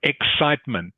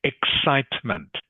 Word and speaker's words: excitement: excitement excitement excitement good excitement the the C is pronounced like an s in this word of course excitement excitement excite is the